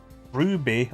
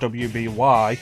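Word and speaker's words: RWBY: main characters of our waby or well you just look and have a that's pronounced he's pronounced ruby our because it didn't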